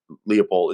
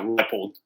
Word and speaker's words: Leipold: you guys are aware, is Lance Leipold actually Leopold? Is it Leipold or Leopold? I always fuck this up. Someone threw me off this weekend. I used to say it right, and then it's Leipold, right? Yeah, Leipold.